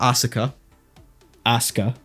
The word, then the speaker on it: Asuka: Shinji yep we got ASA ASA I basically said that no you're putting too much emphasis on the the U part it's just asaa ASA